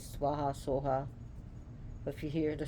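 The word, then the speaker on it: svāhā: so like I said in tibetan pronunciation swaha becomes Soha which is in in this Sanskrit point of view is technically incorrect but but the Soha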